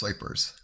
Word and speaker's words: Groypers: don't know what he what he said it's pronounced wipers you sure do seem to keep tabs on